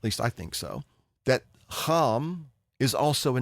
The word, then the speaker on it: Ham: It's just not pronounced Ham, it's pronounced Ham.